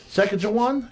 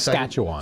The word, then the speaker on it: Saskatchewan: Saskatchewan, Canada. Yeah, I think that's how you pronounce Saskatchewan.